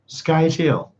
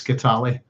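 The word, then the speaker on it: Scytale: Skytail. I'm sure we all call him Skytail. It's Skitali.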